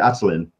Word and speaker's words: Attilan: I pronounce it Attilan.